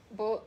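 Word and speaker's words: bouillon: like um who y'all bullion bullion you know yeah yeah the cube it's not they say yeah there's no end like it's not booting his tongue ever hit the end the top of your mouth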